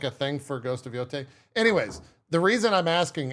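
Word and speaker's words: Yōtei: It's Yote.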